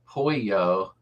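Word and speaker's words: pollo: course I mean uh Polo Spanish or chicken pronounced Poyo but it's Baja Bug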